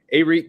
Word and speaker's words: Arik: where it tells you the pronunciation guide you can click on it you can hear it and uh it says aerith gilbert and i've heard eric gilbert i think probably what's